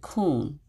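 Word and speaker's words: kuwn: word the hebrew word k-u-w-n or k-o-o-n is how you pronounce it kuhn and i thought that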